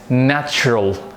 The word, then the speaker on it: natural: And this one is natural. Natural. There are two syllables, nat and ral.